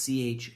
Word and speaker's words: Choquette: It almost looks like it should be chocolate, but it's Choquette.